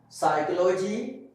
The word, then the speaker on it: psychology: In the beginning of the word, before S, the P is silent. Like psychology, psalm, sage. And some of the people pronounce this word that psychology, some of them pronounce it psychology, okay?